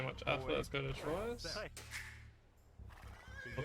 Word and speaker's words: Troyes: Or Troyes. I'm so bad when it comes to French pronunciation. I always forget that you meant to get rid of half the syllables. Oh, half the letters, I should say.